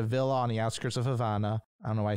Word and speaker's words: Havana: said it like that i don't know don't worry havana havana i'm not sorry i pronounce it yeah that's i understand that's how you say it okay good he continued